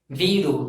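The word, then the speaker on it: வீடு: You have to pronounce this as Vidu, V-E-E-D-U.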